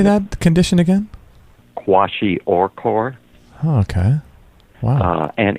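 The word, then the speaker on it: kwashiorkor: milk how do you say that condition again quashi oror oh okay wow uh and it's a protein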